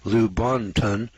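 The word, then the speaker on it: Lubaantun: michael hedges at lubunton british honduras now this is spelled l-u-b-a-a-n-t-u-n lou bontan british honduras it is no secret that prehistoric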